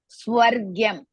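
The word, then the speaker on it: स्वर्ग्यम्: is hrisva, ma hrisva, swargyam. You have to pronounce how? Swa, sa and va together, and ra half, gya, swargya, swargyam. Swa, ra and gya and ma. Swargyam, all are hrisva, ma is half.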